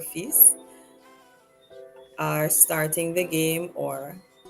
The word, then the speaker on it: fils: Mon fils et moi, my son and I, we pronounce the S but not the L for fils, are starting the game or begin the game.